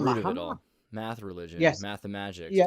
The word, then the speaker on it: Muhammad: I pronounce it Muhammad because in England I got used to it like that.